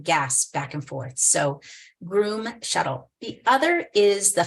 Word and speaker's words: Groome: There's a private company called Groom Transportation, and it's spelled Groome.